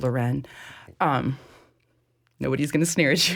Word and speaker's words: Lauren: You can say Ralph Lauren, and that's fine, but it's pronounced Lauren.